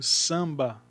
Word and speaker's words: samba: É como se na palavra samba, o ar com N correspondesse ao som de an, que é o ar com tio.